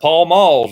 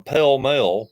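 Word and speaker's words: Pall Mall: Oh no, you got Paul Malls. Don't forget Paul Malls. I don't know why people called him Pell Mell when they were pronounced Paul Mall, or spelled Paul Mall, and they pronounce it Pell Mell.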